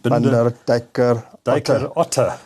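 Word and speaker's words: Binder Dijker Otte: The company is an abbreviation of Binder or Binder, I'm not sure how you pronounce it. Binder, Dijker, Otte.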